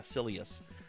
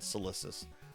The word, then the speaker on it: Silius: Journey to, how do you say it? Silius? Yeah, Silius. I almost said Silicis.